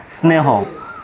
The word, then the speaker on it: স্নেহ: এক নম্বরে যে ব্যবহারটি আমরা দেখতে পাচ্ছি সেটা হচ্ছে যে শব্দের শুরুতে যদি দন্ত ন ফলা থাকে তাহলে দন্ত ন ফলার উচ্চারণ হয় না। ফলাযুক্ত বর্ণটি নাক দ্বারা নাসিক্যভাবে উচ্চারিত হয়, যেমন স্নান, স্নেহ।